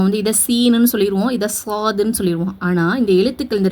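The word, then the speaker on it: صاد: இன்னொரு மிஸ்டேக் என்ன பண்ணுவாங்கன்னா ஸ்வாது சவாதுன்னு ஓதுவாங்க. சவாது கிடையாது. இது வந்து சா சாது சாதுஃத்ஹா அலிப் சுகூன் சாதாலுக்கு சுக்குூன் கொடுத்து என்ன பண்ணனும்?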